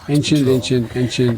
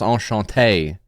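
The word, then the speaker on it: enchanté: the drive-thru as well anent anyway how are you how is every no it's it's pronounced on Shante Joe thank you crazy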